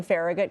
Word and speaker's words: Farragut: Sam, am I pronouncing Farragut correctly? I'm not from D.C. Okay. Yes, it's the Farragut Metro stop.